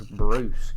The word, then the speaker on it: Bruce: It starts with a B. I don't know where you getting on that K stuff from. It's a B, and his name's Bruce. It rhymes with spruce.